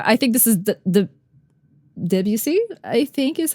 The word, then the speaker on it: Debussy: Another photo I think this is the Debussy I think is how you would pronounce his name. Um Yep, yep Debussy.